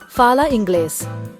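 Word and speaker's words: fala inglês: It sounds like a English. Listen carefully. Fala English.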